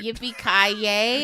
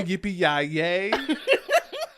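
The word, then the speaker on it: Yippee-ki-yay: Yippee, you didn't say it right. Yippee ki yay. I You know, know that. I know yippee yay yay.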